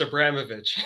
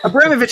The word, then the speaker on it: Abramovitch: pronounce your last name it's pronounced abramovic abramovich i was going to